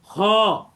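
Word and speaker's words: خاء: তাহলে খ আমরা বলবো এটাকে খ।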